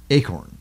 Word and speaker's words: acorn: Acorn, but it is. It's two syllables. A-corn. A-corn. There's two syllables there. And when the A is at the end of any syllable, it takes the long sound, right?